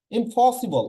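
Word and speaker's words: impossible: যেমন ইমপসিবল আমরা বলি কি? ইম্পসিবল। আর ব্রিটিশরা কি বলবে? ইম্পসিবল, ইম্পসিবল। এখানে পি এর উচ্চারণটা ফ হবে, ইম্পসিবল।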